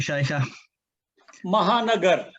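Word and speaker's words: Shekhar Mehta: member of the rosary club of calcutta now pronounce it for me shaker mahanagar okay there we go and that is obviously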